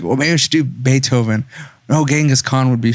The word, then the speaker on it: Beethoven: i was like wait a minute yeah or beef oven why are they looking at me like did you say beethoven yeah no no no sorry never you're all